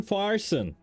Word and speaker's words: Farson: that's one there war Farson Ronnie rhymes with Parson wanted for 19 counts